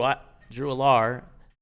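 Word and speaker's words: Allar: They're struggling they're struggling stopping the run, and Penn State with those running backs, Singleton and Katron Allen, and then Drew Alar, that's how you pronounce his name.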